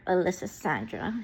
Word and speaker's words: Allyssandrah: So I named her Alyssa Sandra, and that is spelled ALLYSSANDRAH.